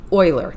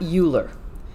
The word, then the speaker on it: Euler: this gentleman over here and his name is pronounced euler not euler and if you ever watch big bang theory